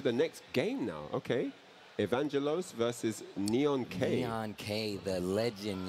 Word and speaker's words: Evaangelos: Evaangelos. Evaangelos.